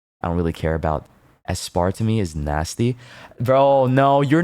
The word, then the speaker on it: aspartame: Okay, it's aspartame.